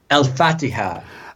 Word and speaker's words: Al-Fatiha: Is that how you pronounce it? Al-Fatiha.